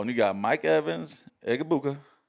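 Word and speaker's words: Egbuka: Just say it real fast. Egabuka. Egabuka.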